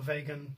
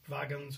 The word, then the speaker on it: vagans: it, is the Brachypalma Vagan, or Vagans, or how you would like to pronounce it depending where you're from, and the Mexican Red Rump.